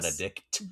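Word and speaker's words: Benedick: He's like Just so I'm getting the pronunciation right, it's Benedict, not Yes. Benedict. There is no T. Yeah, Awkward. it's a K.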